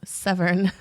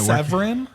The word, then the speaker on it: Severn: Severn, Maryland. Yeah, Severin? Severn. Spell it?